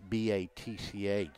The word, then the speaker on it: Batch: And the coach noted on the lineup sheet, he spelled it B-A-T-C-H, so I'm assuming he wants it pronounced Batch.